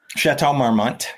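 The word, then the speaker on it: Chateau Marmont: Correct my pronunciation. I'm moninoi but it's the chart marmmo chat marmmont.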